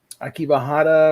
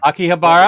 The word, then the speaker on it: Akihabara: going to all the anime shops and stuff akiba hada or however you pronounce it hell yeah akihabara i've been there i want to go there